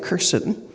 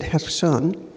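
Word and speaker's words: Kherson: spent her life in hon which looks like kerson but they pronounce it hon uh while in Heron her job she's 60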